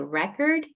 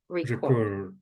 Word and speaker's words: record: have to be careful because nouns and verbs can get confused if you put distress in the bra in the wrong syllable so record and record okay and this